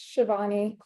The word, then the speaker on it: Shivani: please correct my pronunciation no you pronounce it correct it's Shivani um sorry totally fine